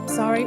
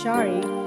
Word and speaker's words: sari: A sari, pronounced sari or sometimes shari, is a woman's garment from India.